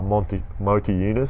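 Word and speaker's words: Motiejūnas: now that omir seek is gone is uh monty motor eunice sorry yeah that's how you pronounce his name he started to play more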